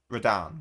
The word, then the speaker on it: Radahn: Oh, Radahn. Yeah, that Radan. That's how you pronounce it.